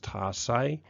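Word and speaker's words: tarsi: That says tarsus, but it's pronounced tarsay.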